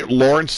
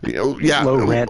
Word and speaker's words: Lorence: disciple of drum monkey is this pronounced low rent I I think it's pronounced lorence I I did try and say Lawrence last time and I got a talking to you know so it's more like low rent you know like low